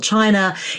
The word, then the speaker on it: Qin: competing Lords basically duke it out to control China and the head of the Chin Dynasty yes that is apparently how Qin is pronounced a wins out he conquers all his